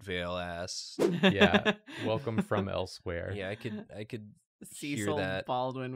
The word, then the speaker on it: Elsweyr: Elsewhere is the name, it's not spelled this way, but it's pronounced this way.